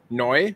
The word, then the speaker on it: Neu: words to words so you pronounce each word as if it is its own so it's noi which is new buffar which is I don't know what that means and then zoig which is vehicle usually before I speak